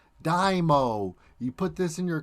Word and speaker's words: DIMO: be talking about dymo yeah that's how you say it it's not demo demo it's called dymo i got that from the mods and their discord i was asking um how do you say it properly they said dymo the example they gave me was like you put your car on a dyno to get your horsepower and rpm stats it's like dymo you